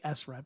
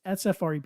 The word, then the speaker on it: SFREP: The full name of our company, people try to say SREP. It's SFREP. It's not pronounceable.